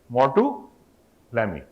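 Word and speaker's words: Maroteaux-Lamy: Same way, Mortu, Lamy. Huh? French name. Like Bordeaux mixture, similar way, Mortu, Lamy.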